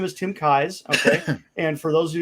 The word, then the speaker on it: Kais: challenge pronouncing my name it's like the eyes in your head with a k in front of it kai's okay i frequently pronounce it keys especially if i'm not